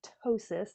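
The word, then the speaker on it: ptosis: for is something called tosis it's p t s i s tosis the p is silent and basically what that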